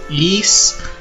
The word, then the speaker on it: Ys: It was Eese Book 1 and 2, and that's how you pronounce it. Eese. Kind of like geese, but without the G.